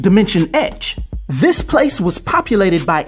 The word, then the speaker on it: Dimension X: This is when his body would be transformed into electroplasm, and he'd find himself in a domain mistakenly called Dimension X, which is actually pronounced Dimension Ecch.